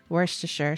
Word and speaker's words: Worcestershire: cabbage or Cheshire sauce Worcestershire Worcestershire I do know how to pronounce that properly Worcestershire sauce and moonstone made